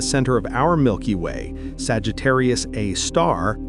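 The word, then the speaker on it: Sagittarius A*: The super massive black hole at the center of our Milky Way, Sagittarius A star, yes, that's pronounced a star because astronomers are fancy, weighs about 4 million suns.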